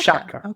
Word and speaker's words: Sciacca: So This is one of those places that I've seen and not known how to pronounce. Shaka. Shaka. Yeah.